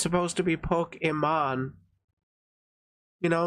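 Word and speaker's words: Pokimane: simps is they don't know how to actually pronounce her name cuz it's supposed to be pokeon you know like Pokemon like literally but people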